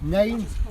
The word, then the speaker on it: nein: It's like the word no in German is nein, N-E-I-N. and she's Same pronunciation as nine.